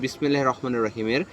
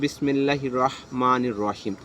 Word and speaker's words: বিসমিল্লাহির রহমানির রহিম: তেমনি শুদ্ধ উচ্চারণ হচ্ছে বিসমিল্লাহির রহমানির রহিমের শুদ্ধ উচ্চারণ হচ্ছে বিসমিল্লাহির রহমানির রহিম। বিসমিল্লাহির রহমানির রাহিম হবে না, এটা হচ্ছে অশুদ্ধ উচ্চারণ। রয়ে আকার হবে না, র পোর হবে।